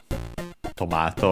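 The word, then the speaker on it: トマト: First we have tomato, which, as you can easily guess, it's the word tomato, tomato, however you pronounce it. Let's check its accent in Japanese. Okay, accent on the first one, tomato.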